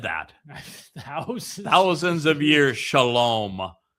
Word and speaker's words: shalom: Shalom. Where do you think the O sound comes from in shalom? Wah. The Wah.